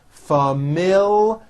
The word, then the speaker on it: familiar: is an exceptional student familiar with a strong l and there's also a hidden y after the l familiar she has a familiar